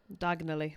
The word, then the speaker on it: Diagon Alley: And I think one of the things with Diagon Alley is that diagonally.